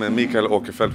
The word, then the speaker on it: Mikael Åkerfeldt: I am Mikael Åkerfeldt, which is the Swedish way to pronounce my name, and I'm the lead singer and guitar player of Opeth.